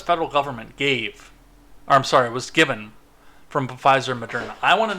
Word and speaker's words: Pfizer: I keep saying Pfizer, and I'm saying it wrong on purpose, by the way. I know the P is silent. But it's just, and I've